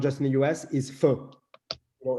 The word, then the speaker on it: pho: see in every Vietnamese restaurant across the world, not just in the US, is pho.